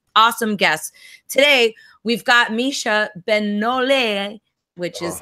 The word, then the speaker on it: Micha Benoliel: Can you say it for me so I can get a little better at my French pronunciation? Sure. Micha Benoliel. Micha Benoliel.